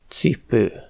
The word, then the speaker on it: cipő: La lettre C est prononcée : cipő (chaussure).